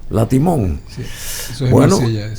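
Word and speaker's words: La Timone: Sí, así se pronuncia. Sí, Latimón. Latimón.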